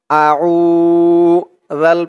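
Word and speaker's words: أعوذ: জালের উচ্চারণটা একদম নরম পাতলা হবে, জিহ্বার মাথা উপরের দাঁতের মাথার সাথে লাগবে জালের উচ্চারণটা করার সময়।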